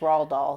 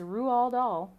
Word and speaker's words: Roald Dahl: his name we learned that tonight it was raw doll so i was concerned growing up it was raw doll it is not it is rual doll um so how to celebrate read or reread